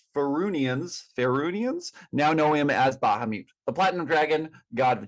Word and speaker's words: Bahamut: I see online that there are 2 common pronunciations. I see you and I differ. You emphasize the Bahamut. I emphasize the ha. I say Bahamut, but it was interesting.